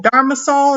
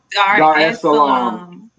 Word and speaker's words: Dar es Salaam: Dharmasol? Is that how you say it? I'm saying it wrong. Dar es Salaam.